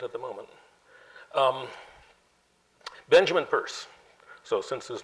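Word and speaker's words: Peirce: you can't do it the name is spelled that way and it is purse the book which I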